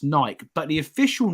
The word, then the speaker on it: Nike: a while so in my view Nike is pronounced Nike but the official name of Nike is actually Nike and I don't say Adidas I say Adidas